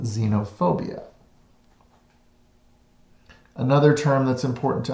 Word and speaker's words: xenophobia: on our test the first is xenophobia it's pronounced xenophobia xenophobia is a fear of those who are